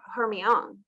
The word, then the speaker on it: Hermione: It's Gentle Hermione, and I'm going to put a check mark that I got that right. But when I first looked at it, I said Gentle Hermione. Yes, that's right. But a lot of people say it Hermione or Hermione. Yes, it's Hermione. Hermione.